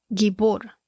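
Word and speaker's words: גיבור: en inglés es mighty en la traducción hebrea la palabra se pronuncia más o menos así como gibor G i b o ere que significa poderoso tirano también significa gigante y gibor como mencioné también se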